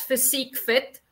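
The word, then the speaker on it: PhysiqueFit: Yes we pronounce it as physique fit and I think there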